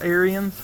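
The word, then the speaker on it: Ariens: errands again this year i think it's actually pronounced aryans because it was a french couple that come over here and there's a whole story about it i call it aaron's i don't care i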